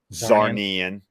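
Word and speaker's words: Czarnian: the last zarnian which I did confirm that's how you pronounce it zaran yeah yeah for me I always think about it sounds like Narnia yeah so good way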